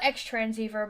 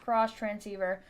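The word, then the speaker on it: Xtransceiver: I call it extransver, but apparently it's pronounced cross transceiver.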